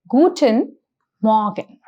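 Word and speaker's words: guten Morgen: is really subtle so the pronunciation is guten Morgan I'll repeat it once more guten Morgan the next wish or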